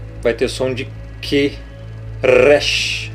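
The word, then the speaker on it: ריש: ter som de que Rush lembre-se que não é hash porque não é rei aqui é Rush com o r bem puxado Rush outra letra aqui embaixo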